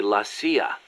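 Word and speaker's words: la CIA: So the story goes around here they say Lassia instead of CIA. Huh? Um nothing strange about it. That's how it's pronounced when you read it in Spanish.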